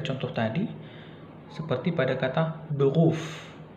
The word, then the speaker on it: Beruf: Beruf, kan di situ penekanannya ya.